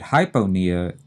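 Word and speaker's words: hypopnea: p n e a and notice that hypona we're not saying the p in that second syllable we're leaving it out hypo is said quickly we're used to saying it that way ress knee and then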